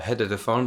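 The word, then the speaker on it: HEDDphone: the phone and yes I'll call it head to the phone because it is spelled h-e Double D was originally the most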